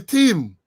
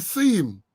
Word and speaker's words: theme: The theme. The theme. I got to put me tongue. My teacher used to teach you put your tongue between your teeth so you could pronounce it properly.